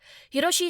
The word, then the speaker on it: Hiroshi: Hiroshi is his given name, and the kanji for 1, 6, and 4 can be read with the same pronunciation.